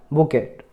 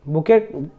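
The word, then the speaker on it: bouquet: अगला है बुकेट। बुकेट देखिए इसको प्रोनाउंस क्या किया जाता है? बुके।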